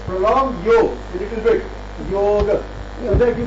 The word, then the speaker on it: Yoga: Yoga. So that you pronounce ga as ga, not neither yog with a halan nor yoga.